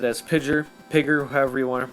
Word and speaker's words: PGYER: I'm going to pronounce it as Pidger, however you want to